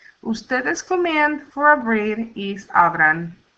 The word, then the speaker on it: abran: Ustedes command for abrir is abran, and it ends in an N. So the stress is on the next to the last syllable. Abran.